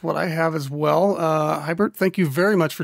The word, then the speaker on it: Huibert: It's pronounced Huibert.